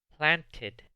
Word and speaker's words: planted: I planted flowers yesterday. Noten que aquí sí se pronuncia la E porque termina en una T.